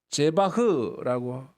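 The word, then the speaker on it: זבח: 속죄 받지 못한다 영원히 여기서 재물은 제바흐라고 읽는데요 피 흘림이 있는 희생제사를 말해요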